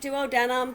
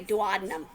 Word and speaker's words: duodenum: Some people pronounce it duodenum, but I think it sounds a lot more fun to say duodenum.